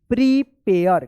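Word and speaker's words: prepare: पी आर ई पी ए आर ई प्रीपेयर।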